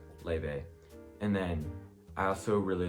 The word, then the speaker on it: Laufey: head back DeMarco Le or some people also pronounce it like ly or Luffy um but before you come at me on